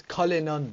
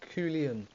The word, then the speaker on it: Cullinan: It's Cullinan, not Coolian.